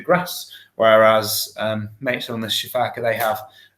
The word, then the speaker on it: sifaka: You said you called it a shafaka. How on earth do you spell that so I can look it up? Oh, okay, so it's a crowned, crowned obviously, and then sifaka. So it's an Sifaka.